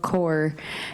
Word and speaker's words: Kaur: Mun rhymes with sun, Preet with the th at the end, and Kaur like apple core, and that's as close